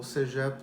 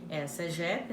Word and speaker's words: CEGEP: Ela está ligada ao CEGEP do Vieux-Montréal. CEGEP, eu sempre sou alerta porque eu não faço nenhuma edição, né? Mas o nome do CEGEP é esse, né, Guilherme? CEGEP, né?